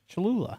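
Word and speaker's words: Cholula: it is is that how you say it chalula yes oh okay I've got a list here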